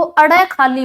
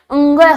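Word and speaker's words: ङ: के अभाव में इसको अड़ खाली बोल दे देते हैं दोस्तों यह अड़ खाली नहीं है अड़ खाली नहीं है इसका उच्चारण क्या होता है अंग होता है यह कांसेप्ट की जो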